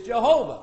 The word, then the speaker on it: Jehovah: yo hey ba hey the pronunciation that according to the Bible is Jehovah I don't have anything to prove otherwise amen I just have my Bible tell me is Jehovah okay now what gave